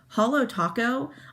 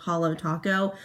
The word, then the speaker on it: Holo Taco: to talk about is holo taco i feel like that's how you pronounce it um it's like holographic so it's holo taco this is a brand